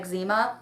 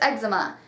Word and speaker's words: eczema: then I pronounced it wrong and I said Exuma which is not the correct pronunciation of it but it's eczema and they were like what's that and now